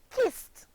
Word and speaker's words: kissed: SS ad and is pronounced wonderful kissed only one syllable the last one the